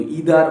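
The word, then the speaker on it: either: এইটা আমাদের গ্রামেটিক্যাল একটা ফর্মে আছে, নাইদার নর, আইদার অর, এইগুলো ইদার অর বা নাইদার নর, আইদার অর, এইগুলো কিন্তু সবই সঠিক উচ্চারণ, কোনোটা ভুল নয়, তোমরা ইউজ করতে পারো, বলতে পারো।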